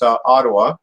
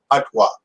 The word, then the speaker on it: Ottawa: way we pronounce it, there's two ways to pronounce it. One is the English, which is Ottawa, and which is the perverted way of saying it, and then the original native language way to say it is Ottawa.